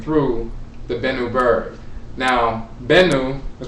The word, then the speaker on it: Bennu: Now, Bennu is pronounced Bennu or Ben, or sometimes Ben, but it's spelled B-N-B-N in ancient Kemet.